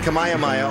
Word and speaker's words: Kamehameha: Kamehameha.